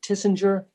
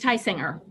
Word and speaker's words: Heisinger: Judge, am I pronouncing it correctly? Tissinger? No, it's Heisinger.